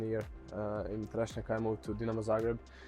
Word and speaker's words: Trešnjevka: It's called Trešnjevka. I think it's tough to pronounce. It's called what? Sorry. Trešnjevka. Right. Okay. Try to say. Chereshnika.